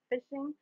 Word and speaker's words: phishing: if it is insecure basically facing is pronounced as fishing and working functioning is